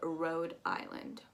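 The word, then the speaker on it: Rhode Island: right there we have road island road like i rode my car or i'm going on the road um and then to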